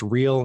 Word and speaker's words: Riehl: and for our listeners your last name is spelled r i HL correct that's correct and pronounced real not fake okay Damen thanks so